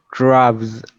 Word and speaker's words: crabs: I think it's crabs with S voice.